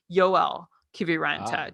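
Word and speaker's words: Joel Kiviranta: also very excited to correctly pronounce his name is joelle kibiranta just like yo alarmia okay i'm just used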